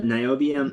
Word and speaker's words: niobium: looked up your website uh how do you pronounce is it myobium or mobium yeah niobium isi yeah yeah so it's a wonderful material